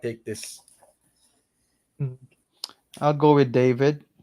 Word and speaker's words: David: this I'll go with David or David as what we call that name or pronounce that name in our part of the world Spanish pronunciation yeah Spanish pronunciation yeah David